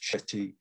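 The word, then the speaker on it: Cetti's: in local confines the chet is warbler so it's pronounced shetty french after a french zoologist um it's a bird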